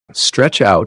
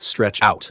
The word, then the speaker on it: stretch out: So in stretch out, the stress is on out, not on stretch. We pronounce it stretch out, not stretch out.